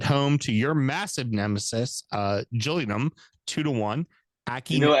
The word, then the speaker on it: Gillingham: That's the difference, because they're the Gills, except their name is pronounced Gillingham.